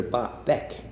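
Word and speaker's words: Baek: During that time, one of the things Master Beck, B-A-E-K, again, Beck would be German pronunciation, Bach, repeatedly told me, what he repeatedly told me was a story about his days in public service.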